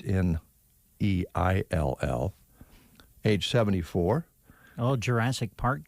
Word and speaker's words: Neill: And I'm not sure how to pronounce this last name. It's Sam Neill. It's Neill, age 74.